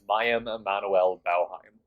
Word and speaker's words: Mayim Emanuel Bauheim: So the official pronunciation is Mayim Emanuel Bauheim, if that helps.